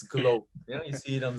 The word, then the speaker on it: GlobeDX: with globe you know we don't pronounce globe dx it's glow yeah you see it